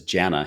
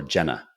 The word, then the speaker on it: Janna: so G's wife is Janna he used to call her Jenna I'm like the the E is silent it's actually J na jna same thing and I can't figure